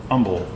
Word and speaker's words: Humble: Well, there was a gentleman named Humble. Um so Umble. So it's probably the way he pronounced his name.